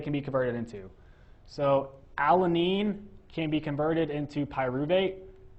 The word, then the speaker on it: alanine: So, alanine alanine three syllables.